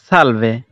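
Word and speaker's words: salve: এখানে একটা জিনিস খেয়াল রাখতে হবে, আমরা কিন্তু ছয়ের মতো উচ্চারণ করব না, অর্থাৎ ছায়া, ছাতা এরকম করে উচ্চারণ করব না, আমরা এখানে এর উচ্চারণটা করব দন্তের স্বরের মতো করে, তাহলে আমাদের উচ্চারণে আর কোনো ভুল হবে না।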